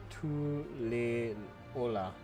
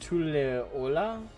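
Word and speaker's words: Tuliyollal: violence TOA T Ola wait it's supposed to be pronounced tulola it does not look like it phonetically speaking it does not look like it's supposed to be pronounced T Ola tulola I need to hear someone say it before I accept that's supposed to be how it's pronounced they find Common Ground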